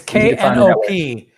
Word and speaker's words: Knop: And it's Knop. So yes, just one. It rhymes with the Pope, by the way.